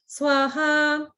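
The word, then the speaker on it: स्वाहा: So that's why, and you'll hear this in the temple, the swaha is not pronounced in that special way. It's pronounced just as a regular, like swaha.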